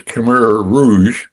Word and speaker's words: Khmer Rouge: Um the very first one you mentioned, by the way, the pronunciation is Kur Rouge.